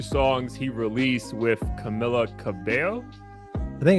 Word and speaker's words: Camila Cabello: Camila Cabello. Yep, we'll go with that. We'll be the first ones to pronounce it correctly.